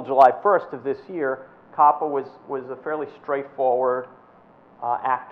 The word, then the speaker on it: COPPA: It's not pronounced COPA. It's COPPA, the Children's Online Privacy